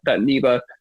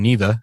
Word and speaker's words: NIVA: to everybody over at I'm gonna say it correctly this time neva instead of an OVA yeah thank you everybody